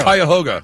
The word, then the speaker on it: Cuyahoga: Cuyahoga. Wait, say it, though. Cuyahoga.